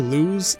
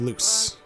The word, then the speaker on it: Luz: such as how I spent the whole video mispronouncing the main character's name. Yeah, I called her Luz instead of Luce, which might not seem like a huge deal,